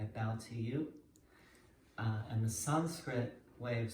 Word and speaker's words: Sanskrit: going to go over Sanskrit. Often pronounced Sanskrit, but it's really more like Sanskrit. And the original is really Sanskritam.